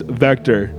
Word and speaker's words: VCTRE: vector and we're good v c t r e c t r e yes and that's how it's pronounced vector oh yeah I get